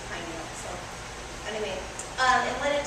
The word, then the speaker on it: pineal: We weren't sure how to pronounce it, but the woman, she had like a gorgeous Canadian accent. She kept pronouncing it pineal.